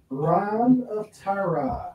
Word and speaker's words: Reign of Terra: All right, next up, Wolverine, Reign of Terra. Reign of Terra. It's, is it pronounced Reign? Yeah, it's a pun.